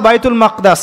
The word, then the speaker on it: বাইতুল মাকদিস: এবার এই বোরাক চলে গেল বাইতুল মাকদাস। এটা কোথায়? বাইতুল মাকদিস, বাইতুল মাকদাস না, বাইতুল মাকদিস। বিভিন্ন মানুষ বিভিন্ন উচ্চারণ করে।